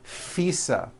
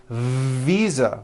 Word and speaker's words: visa: just received her international fisa correct no I said fisa with an unvoiced f I should have said visa with a voiced v living I am living